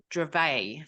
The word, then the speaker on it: Dravet: that is Dravet Syndrome so I've always called it dravette this I'm going to be totally up front here uh and Stacy was beautiful enough to go and correct me last night so it's spelled d-r-a-v-e-t which makes sense but Dravet is actually what it is called and so we're going